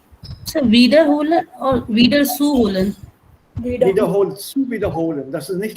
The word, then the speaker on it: wiederholen: Wiederholen, zu wiederholen. Das ist nicht trennbar. Wiederholen. That's why I said stress on the second syllable. Wiederholen. Not wiederholen.